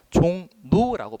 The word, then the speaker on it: 종로: 자, 당연히 종로라고 썼지만 이거 우리가 어떻게 발음해야 돼요? 종노라고 발음해야 되잖아요.